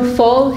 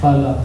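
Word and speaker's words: फल: Sorry, I'm pronouncing with the Bengali pronunciation, but I say the A's as O's. You can say it how you want. How would you pronounce this in like someone who's not Bengali? Phala. Phala, you'd say like that, okay.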